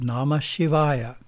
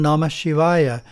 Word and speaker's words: Namah Shivaya: yard or Veda is nama Shivaya which means adoration to Shiva because it has five syllables na ma Shiva yah it is called the